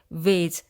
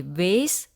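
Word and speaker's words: vase: फूलदानी ला English मध्ये वेज किंवा flower pot असे म्हणतात या वेज चा उच्चार तीन प्रकारे केला जातो एक है वेस दूसरा है वेज अ तीसरा है वाज घरा मध्ये ख्या झाडा बरोबर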